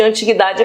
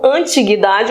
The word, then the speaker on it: antiguidade: princípio é chamado de antiguidade clássica que você pode chamar tanto antiguidade ou antiguidade tem a dupla pronúncia um tempo tão tão